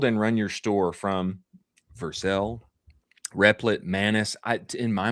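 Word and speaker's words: Vercel: Yeah, Versel.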